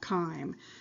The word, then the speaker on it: chyme: that we now call time by the way it's spelled like chime but it's called chyme and that's that acidic